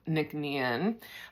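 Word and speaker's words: Nc'Nean: So, that's why they've shortened it uh to this pronunciation and spelling of Nickn.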